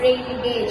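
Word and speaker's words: rain gauge: us what is the proun correct spelling and pronunciation of rain G It is rain gage and the spelling is a a r a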